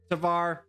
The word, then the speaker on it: Tvar: Now, if you're in this position, if you're in Tsar's position, Tvar, I've been saying Tsar this whole time, but Tsar is spelled with an S, isn't it? Oh well. Tvar, if you're in his